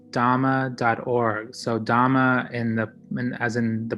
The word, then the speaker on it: dhamma: the buddha dhamma like i've been learning so much from the